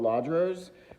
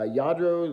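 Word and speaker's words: Lladró: in depth but these are called ladro's uh yadro ladros and people pronounce it differently but these are highly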